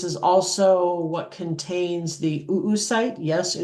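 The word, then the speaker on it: oocyte: Um, this is also what contains the oo site. Yes, it is pronounced oo site.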